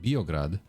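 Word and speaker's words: Beograd: calling it that so locals call it biograd Outsiders call it belgrad and that's the story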